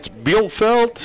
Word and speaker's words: Bielfeldt: And it's Bielfeldt. Bielfeldt. Yep. Okay, but I'm going to spell that.